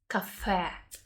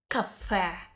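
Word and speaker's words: кафе: emphasis here on the last waddle and we pronounce yeah like a cafe cafe don't mix it up with coffee cafe two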